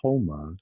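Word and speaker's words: haoma: And you know, I mean, even in Zoroastrianism, uh, there's soma, but it's called homa because Halma, they yeah. didn't pronounce the S, they pronounced it like an H.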